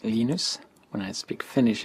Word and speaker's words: Linus: Linus or Linus? What's your preferred pronunciation? When I speak Swedish, it's Linus.